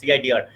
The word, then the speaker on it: CIDR: It is not a specific class, and by this according to this method, the CIDR, that's how it's pronounced, CIDR, according to the classless method, there are no longer any definitions of class.